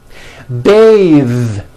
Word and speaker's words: bathe: Bathe. The word bath is a noun with an unvoiced TH. Bath. But when you change it into a verb, to bathe, the vowel changes to an A sound and the TH is voiced.